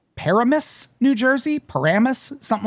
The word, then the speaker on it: Paramus: They don't even pronounce the first A. They just say Pramus.